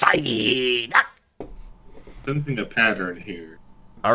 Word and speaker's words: Psyduck: It's Psyduck. Side. That's not how you say it. Yeah. Yeah, I was gonna say it's Psyduck.